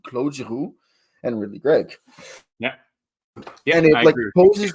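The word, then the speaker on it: Claude: were Claud Claud jaru I hate that I'm calling Claud is Cloe I'm French I should say his name properly clu and rley Greg yeah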